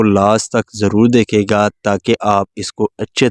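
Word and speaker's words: tsar: टू द jar king jar king को यहां पे जो टी है ये साइलेंट है तो इसका क्या मतलब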